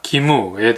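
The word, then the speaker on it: 義務: 일본문화연구소 국화와 카레는 기리와 기무에 대한 이야기가 나옵니다. 기리는 의리의 일본식 발음이고요. 기무는 의무의 일본식 발음입니다.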